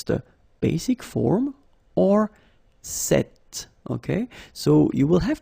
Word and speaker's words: cet: So it's quite interesting because if you listen carefully, the masculine form here, cet, and the feminine form here, cet, you write them differently, but then you pronounce them the same way.